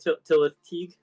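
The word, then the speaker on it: Tylwyth Teg: Tillis Tig.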